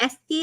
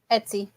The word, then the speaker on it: Etsy: shop where you could buy stuff is it ety am I saying it right Etsy Etsy Etsy shop thank you Erica so they're